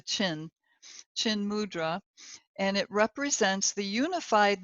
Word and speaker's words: chin mudra: This is also known as chin mudra, like it's spelled like the chin mudra, and it represents the